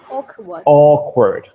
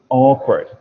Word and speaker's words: awkward: Yeah, that should be Awkward. Awkward. So we put a lot of emphasis on the first sound.